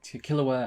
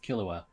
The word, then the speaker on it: Killua: there with a kahlua killer i'm still i i know it's pronounced kilauea but i keep saying killer just out of habits but yeah killer were